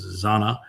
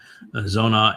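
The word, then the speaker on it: זונה: And then he goes on to say that she is Zona. Sometimes it's pronounced Zanna. Zona is the the more common Hebrew pronunciation now. Um the older version would be Zanna.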